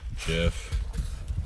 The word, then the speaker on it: Gef: It's spelled G-E-F. Oh, G-E-F. G-E-F. Jeff.